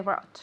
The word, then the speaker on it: brought: You didn't bring what I brought. Perfect. You didn't bring what I brought. This O-U-G-H is silent. B-R-O-T. Brought.